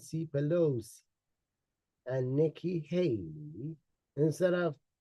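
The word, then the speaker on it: Pelosi: charge of security on January 6th it's Nancy bosi for the 100th time that is not Nancy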